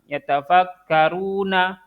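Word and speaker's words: يتفكرون: tidak bertemu dengan sukun, maka berarti dia harusnya dibacanya normal kan? Dibaca dua harokat. Yatafakkaruna.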